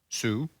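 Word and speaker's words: Soo: better because the guy's name, let me just spell it for you. His first name is D-O-O. Do. His middle name is S-O-O. Sue.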